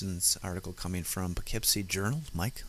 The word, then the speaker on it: Poughkeepsie: This is an article coming from Poughkeepsie Journal.